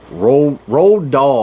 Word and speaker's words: Roald Dahl: I always say this name wrong. Roald Dahl, the guy that wrote Charlie and the Chocolate Factory and James and the Giant Peach. Roald Dahl, I think is how you say it.